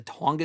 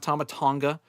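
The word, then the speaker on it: Tsongas: That's going to be in the the Tonga Center, I think is how they pronounce it. Not Tomatonga, I think it's TS O N G- A or something like that. Uh the S might be silent, but yeah, they had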